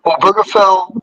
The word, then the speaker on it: Obergefell: Oh, I think it's pronounced Obergefell versus Hodges.